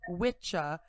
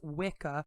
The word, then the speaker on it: wicca: english wisscraft from wicca masculine or whis feminine pronounced witcha and witcha respectively denoting someone who practices sorcery and from craft meaning craft or skill this term is often mispronounced as wicca when discussing the modern day religion of witchcraft